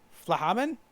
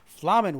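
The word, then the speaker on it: F'lhaminn: Flahaman? Is that how it's pronounced? Or is it just Flamen? Don't pronounce the H. Flamen was her name, though you may know her better as the Songstress of Ul'dah.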